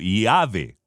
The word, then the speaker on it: Yahvé: Pero Yahvé era pronunciado en ciertos periodos de la historia griega como Iave.